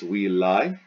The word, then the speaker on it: villae: Here's the genitive singular, goes in the genitive singular blank as villae. You chop off the AE pronounced I to get the stem, will.